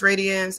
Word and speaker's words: RAE.DIANZ: It is pronounced Radiance.